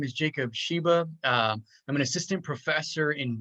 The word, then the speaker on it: Shiba: And today I have Jacob Shiba. Am I pronouncing that correctly? You are, yeah, Jacob Shiba.